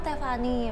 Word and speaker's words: Thefani: Oh, Tiffany.